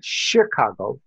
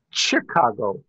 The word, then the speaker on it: Chicago: I was born in Sicily, but I grew up in Chicago. Okay. Which is how you pronounce it everywhere else in the world. But inside the city, it's Chicago. There you go.